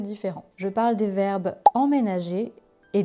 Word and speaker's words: emménager: Quelle est la différence entre emménager et déménager? Emménager, déménager. Déjà pour la prononciation c'est presque le même mot, il y a juste en, voyelle nasale, et dé qui fait la différence.